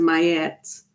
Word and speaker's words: Mayet: that um oh yeah it is it is pronounced my yes you're right so it's m-a-y-e-t I always